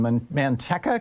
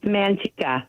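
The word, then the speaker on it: Manteca: you Kathy in Manteka, California. Am I saying it right, Kathy? No, it's Mantika.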